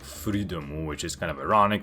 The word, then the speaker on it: Fleadom: In Japanese, it would be pronounced something like Freedom, which is kind of ironic considering his second ability, Living Dead Dolls, allows him to control cadavers.